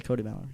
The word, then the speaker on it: Kody Mallory: Just say Kody Mallory. That's it. That's One syllable, two syllables. Basic English. Kody Mallory.